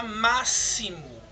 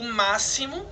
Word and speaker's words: máximo: de ch e temos a palavra máximo o máximo é escrito com x porém o x tem som de s tá bom então essa